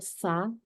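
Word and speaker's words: ث: 네, 보시면 이를 그 혀를 이 사이에 가볍게 물어주시고 바람을 내부시는 거예요. 싸. 그래서 영어로 치면은 고맙습니다 할 때 thanks 하죠. thanks.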